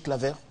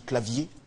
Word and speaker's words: Clavier: et c'est la française Julie Claver ou Julie clavier pour la bonne prononciation Julie clavier qui a décroché le